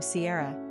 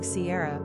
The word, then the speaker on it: Ciara: Kiera is another anglicized form of the Irish female name Ciara, generally pronounced the same way.